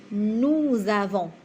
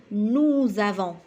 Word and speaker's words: nous avons: as il a elle nous avons nous avons donc le S avec le a je prononce Z nous avons nous avons